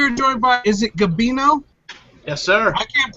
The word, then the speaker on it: Gabino: Garrett cook we are joined by is it gabino yes sir I can't pronounce I can't pronounce names like Matthew so